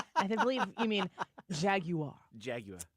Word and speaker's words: Jaguar: you mean Jaguar Jaguar you can pronounce it however you want I pronounce it the English way Jaguar like the proper English like no yeah the American English Old Country Middle Country Midwestern English yeah not Jag Jaguar uh just get a